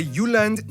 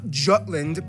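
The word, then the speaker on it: Jylland: Denmark is made of the you land not Jutland peninsula that connects to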